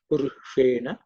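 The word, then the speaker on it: पुरुषेण: The sh is again cerebral sh. So the tip of the tongue should point upwards. Right. Purushena.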